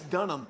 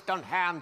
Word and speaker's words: Dunham: mispronounced my last name i know it's dunham now when you look at it it says don't ham just on hand you're the other white knee don't confuse everyone it's dunham it says done